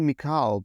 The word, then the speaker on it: Mikal: It's Mikal Bridges. So I do Mikal, but like Michael.